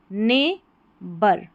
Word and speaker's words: neighbour: ने, NEI को ने पढ़ेंगे क्योंकि EI का उच्चारण ए करके यहाँ पर हो रहा है, GH साइलेंट है। ने बर, BOUR को बर पढ़ा, OU का उच्चारण यहाँ पर अ है।